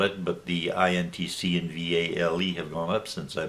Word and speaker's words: Vale: And I bought Vale, I guess is the pronunciation, VALE, and I paid $13.63 per share.